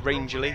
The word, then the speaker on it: Rangeley: I've been collared for not pronouncing his name right for the last year and a half. Is Rangeley, so there you go, you got it twice.